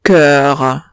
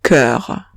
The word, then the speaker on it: cœur: Lo mismo pasa con cœur. Lo mismo pasa con cœur. No pronuncio la O y digo cœur.